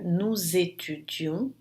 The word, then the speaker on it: nous étudions: Aqui nesse caso, o S vai se pronunciar como se fosse um Z, e ela é obrigatória sempre entre um pronome e um verbo. Então vai ficar nous étudions, nós estudamos, vous étudiez,